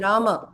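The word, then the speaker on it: Rāma: R but is actually it is Rama in Sanskrit it's not R which is wrong but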